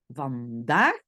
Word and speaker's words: vandaag: Donc, par exemple, si moi je dois écrire le mot vandaag, vandaag, j'écoute bien, le premier A est court, van, daag.